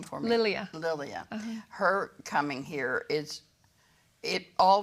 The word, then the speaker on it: Lilia: Well, the horrific story that you tell about Hector coming here and later his wife, and pronounce her name for me. Lilia.